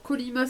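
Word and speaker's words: Kolyma: Alors, Kolima, ça s'écrit K-O-L-Y-M-A.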